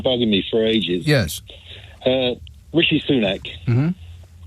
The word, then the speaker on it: Rishi Sunak: Rishi Sunak is often called Richie Sunak.